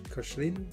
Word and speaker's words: Koechlin: Two of his engineers, Maurice Koechlin, that's how you say it, and Emile Noguer,